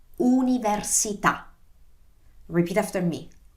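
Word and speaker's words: università: it's so tricky because the pronunciation is not you so it's not like university but it is universita repeat after me universita okay so let's recap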